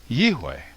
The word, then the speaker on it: Yahweh: So, in my opinion, the pronunciation of the name Yod-He Vav-He is Yihweh.